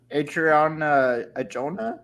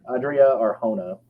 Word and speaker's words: Adria Arjona: Adriana Ajona? Is that how you say her name? Adria Arjona.